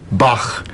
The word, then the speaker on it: Bach: A German would say Bach, but English doesn't have this ge sound anymore.